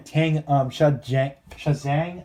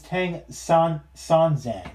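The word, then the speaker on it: 唐三藏: because Sanzo or again Tang Shazang, I think it's how you pronounce his name. Yeah. Oh wait, it's Tang Sanzang. Okay, that's how you pronounce it.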